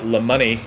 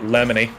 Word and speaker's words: Lemoney: I also realize that after you've said it, Lemoney is how you say it, and not Lemony. which is how I was saying it.